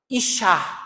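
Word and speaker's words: אישה: E a palavra mulher, como é que se pronuncia? Ishá.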